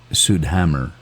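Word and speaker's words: Südhemmern: I call psea fed I'm told it's pronounced sud Hammer so let's do some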